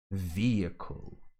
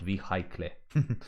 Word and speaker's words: vehicle: exhausted exhibition exhaust rhubarb vehicle not v high clay that's for sure my god so vehicle and as i have